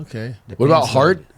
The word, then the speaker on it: Hart: Like the T will be ch, and like David will be David.